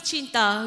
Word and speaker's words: cinta: And in Bahasa Melayu or Bahasa Malaysia, we call love is cinta. We spell it like C-I-N-T-A, cinta.